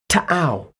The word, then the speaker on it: Tau: However, due to copyright reasons, I shall now pronounce the name correctly once and once only. Are you ready? Tau.